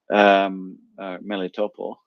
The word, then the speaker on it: Melitopol: Melitopol actually is the right pronunciation, I think, instructing them on what to do if there is a Ukrainian counter-offensive on the city.